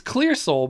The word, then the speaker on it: Qlearsoul: It's Qlearsoul, but spelled with a Q.